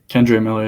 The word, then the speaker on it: Kendre Miller: Kendre Miller, yeah.